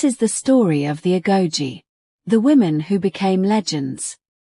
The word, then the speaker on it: Agojie: The origins of the Agojie, pronounced Agojie, are debated by historians,